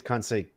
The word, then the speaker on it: Conceição: Is that how you pronounce that name? Yeah, I believe it's Conceição, Conceição, whatever.